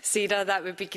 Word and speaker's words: Sara: It is pronounced “Say-ra”.